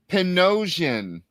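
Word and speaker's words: Panosian: I've been saying his name wrong for the last 20 years. Benjamin Dan Percy? Oh. Pinosian. I never thought to say that ever, but that's how you say his name.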